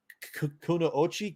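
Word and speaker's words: くノ一: They're called I never pronounce it. Kunoichi.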